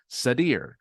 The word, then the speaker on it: Sadir: and he says ear he says it's like sad ear Sadir and I go oh I'm